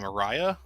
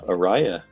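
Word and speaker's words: Auriaya: so how do you even say her name Ariah very well done Ariah that is correct I I eat it raid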